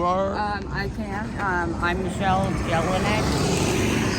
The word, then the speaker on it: Jelinek: I'm Michelle Jelinek. It's Bohemian. It's hard to pronounce. Jelinek, if you want to pronounce it correctly.